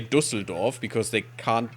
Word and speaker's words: Düsseldorf: bonus, and then go to Zoringen and no, Düsseldorf and siege that. Düsseldorf. See, there's no English name for Düsseldorf, and sometimes native English speakers can actually say that. I don't know. I mean, they usually say Düsseldorf because they can't pronounce the Ü, but still.